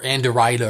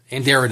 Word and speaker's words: Anderida: Uh but Andera or Anderida or however you want to pronounce it, Andera I believe is the correct pronunciation has collected these three noavellas and put them into one massive volume.